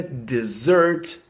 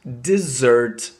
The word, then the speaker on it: dessert: Пустыня произносится desert, desert, desert. А вот второе слово, то есть десерт, это уже dessert, dessert, dessert.